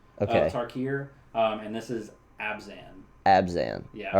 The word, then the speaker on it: Abzan: So this would be from the tribes of Tarkir, and this is Abzan. Abzan. Yeah. All right. Some people also pronounce it Abzan.